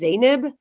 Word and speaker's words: Zeynab: Zanab. But how you pronounce it is Zanib.